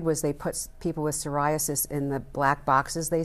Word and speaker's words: psoriasis: r i as s psoriasis sasis it's that patchy skin problem okay sasis I didn't know sasis start with a P well actually you know